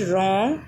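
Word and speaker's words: wrong: तथा अगेन सामान्यतः डब्लू के जस्ट बाद यदि एच आता है तो वहाँ भी डब्लू सामान्यतः साइलेंट हो जाता है। For example right, रॉन्ग, wrist. And आप यहाँ भी देख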